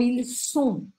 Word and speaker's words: ils sont: Então, presta bastante atenção na pronúncia. Por exemplo, quando eu falo ils ont, ou ils sont. Ils ont é eles têm. Ils sont, eles são.